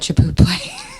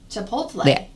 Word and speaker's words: Chipotle: owned by McDonald's, I used to call it Chipotle. Oh, Chip. That's a whole new one because of what the effects are. Yeah. Uh, how do you say that one? Chipotle.